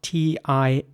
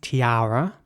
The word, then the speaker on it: tiara: The next word is spelled T-I-A-R-A, and it's pronounced tiara in British English, and in American English, it's tiara.